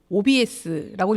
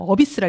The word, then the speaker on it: OBS: 송건호 언론시민상 첫 회의 수상자가 되신 옥천고등학교 방송부 OBS라고 읽으면 안 되죠. 어비스라 읽어야 되죠.